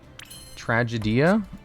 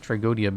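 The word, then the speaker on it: Tragoedia: I think Tragodia is pronounced like tragedy, just with an extra A. Tragedia? No, it's Tragodia. I like Tragodia better.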